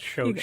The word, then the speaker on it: Schoch: That's pronounced Schoch.